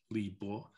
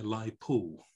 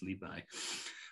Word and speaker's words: Li Bai: Rather than Li Bo, it's Li Bai.